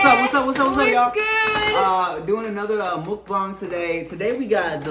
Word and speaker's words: mukbang: you know the the the Americans you know what I'm saying they don't know how to say it right so they say they say mukbang mukbang right mukbang I do believe the the proper way is Muk yeah for sure so